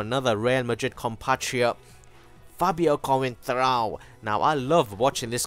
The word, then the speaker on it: Coentrão: And can you pick up on how I'm saying his name in a Portuguese accent? Coentrão. That's how you gotta say his name.